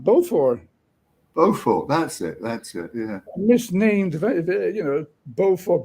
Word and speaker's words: Beaufort: Beaufort, that's it, yeah.